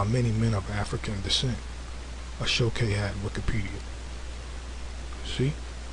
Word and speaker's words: aso-oke: It says an Aso-Oke hat, pronounced Ashoke, a type of soft fez, is a traditional Yoruba hat that is made of hand-woven African fabric.